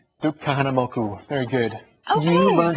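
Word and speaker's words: Kahanamoku: K kaham moku I said it correctly Duke kah moku very good you learned how to say the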